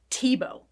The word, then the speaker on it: Thiebaud: name of wayne tebow the way it's spelled and the way you say it are very different but it's not pronounced the way it looks here it's pronounced tebow wayne tebow was born in 1920